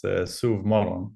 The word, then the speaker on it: sovmorgon: I mean, I also have to say I'm not native Swedish, obviously, but it's sovmorgon, which means sova means sleep, and morgon means morning.